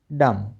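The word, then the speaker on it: dumb: सी ओ एम बी कॉम एल ए एम B lump. ठीक है? और डी यू एम बी डम। इन सभी में बी साइलेंट है।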